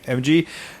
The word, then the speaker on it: Emge: David, how do you pronounce his last name? Emge.